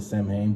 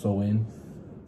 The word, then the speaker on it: Samhain: or sewin right some people will call it samhain but it's actually pronounced so in time began as a single day but by